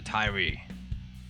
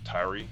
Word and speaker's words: Tyree: They put an accent on the E part of the name instead of the Y, the I sound. And I typically put the accent more on the Y.